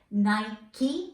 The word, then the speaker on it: Nike: the nike brand that the pronunciation is nike not night i repeat nike hook it helps ഇന്നൊരു